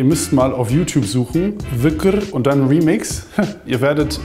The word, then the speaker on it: Dhikr: Ah, da steht Dicke, aber es wird locker Wücker oder so ausgesprochen.